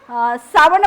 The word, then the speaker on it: सावण: आणि षटकोनाचे श येत परंतु पालीमध्ये श्र आणि श याचा उल्लेख होत नाही तर कशाचा उल्लेख होतो सचा उल्लेख होतो आणि म्हणून या ठिकाणी हिंदीमध्ये जो आपण जस आपण उच्चारण करतो सावन तशा पद्धतीचा या ठिकाणी पाली भाषेमध्ये सावण मासो म्हटलेला आहे किंवा सावण पौर्णिमा म्हटलेलं